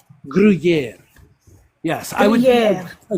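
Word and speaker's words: Gruyère: Gruyere. Yes, I would. Gruyere. A green Gruyere. Gruyere.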